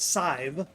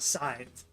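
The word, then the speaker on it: Sadb: His son, Murchad, and Murchad's wife, pronounced Scythe. You can see it on the screen here. S-A-D-B is pronounced Scythe.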